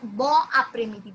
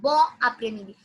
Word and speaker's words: bon après-midi: We pronounce the N sound but quite silent. Why N? We had noted it down last time that if it's a, if it's there's a vowel ahead, we say it as bon après-midi.